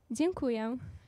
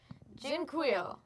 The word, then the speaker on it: Dziękuję: Dziękuję. Dziękuję.